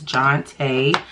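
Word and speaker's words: Jontée: watched any of these videos my name is jonte a lot of people I feel don't know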